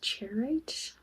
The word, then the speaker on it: charoite: The next crystal I'll be using is charoite.